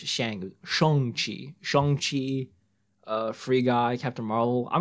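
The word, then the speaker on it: Shang-Chi: for you know it wasn't pronounced shang shong chi shang chi free guy captain marvel i'm gonna watch the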